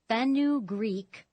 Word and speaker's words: fenugreek: Researchers monitoring libidos and orgasms found fenugreek, it's spelled Fenu Greek, Greek, boosted male sex drive by at least a quarter.